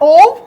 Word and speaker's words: of: Sorry, ये ध्यान रखेंगे, प्रोनाउंसिएशन में OF को बोलते हैं ओव, राइट, और OFF होता है, ये होता है ऑफ। हम दोनों को ही ऑफ बोलते हैं।